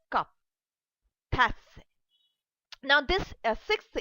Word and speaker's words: tasse: like you want to say a cup, and you want to show that this cup is a female, so we have tas. You don't pronounce that e.